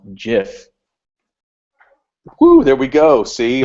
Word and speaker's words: GIF: of it says said uh it should be pronounced GIF. Woo, there we go. See, all those people at the word camps were calling me off stage. So, everybody's saying GIF because that's what it kind of looks like with the G.